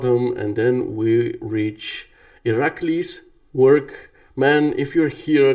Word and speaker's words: Irakli: I asked ChatGPT, and it said it's Irakli, so the emphasis is on the second syllable. If it was pronounced in Bulgarian, I would have said Irakli, like on the last syllable.